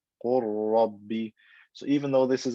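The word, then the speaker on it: قل رب: So instead of saying qul rabbi, I say qur rabbi, qur rabbi. I merge the lam into the ra and it becomes one ra with shadda. Qur rabbi.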